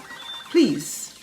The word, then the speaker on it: please: age a-g-e breathe b-r-e-a-t-h-e please p-l-e-a-s-e the last e in all of those words age breathe and please is silent how about silent g